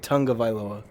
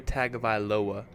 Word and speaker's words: Tagovailoa: You said Tungavailoa. Oh. Dude, there's like a I added mystery an beast in the N? trees. Yeah, Tung. Oh. Tua Tagovailoa. Right? That's how you say it?